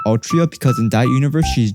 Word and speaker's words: Altria: really king arthur but it is it's actually pronounced altria because in that universe she's gender bent but